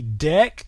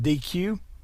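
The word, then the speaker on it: deque: there is the vector the deck now in Tennessee in the southeastern United States that looks very much like DQ alright but the actual nerd correct pronunciation of that is Dec the list the map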